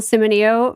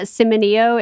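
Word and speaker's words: Cimino: name but Michael uh Simo is c i m i n o and I looked up how to say it so I believe that that is correct um oh he's cute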